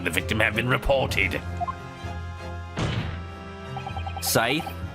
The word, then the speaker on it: Scythe: Scythe? Sounds like Sykes. Well, you hear it's pronounced as Sith.